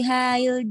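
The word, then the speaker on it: حي: Hal taskunu fi hayyil jami'ati. Santi, barakallahu fiik. Untuk hanya jangan terlalu lama ya harokat hanya karena tidak ada madnya. Hayyi. Fi hayy.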